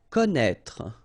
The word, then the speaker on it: Connaître: Connaître, okay, so you get this accent circonflexe on the top of E here, but then, you don't pronounce it, okay, so don't be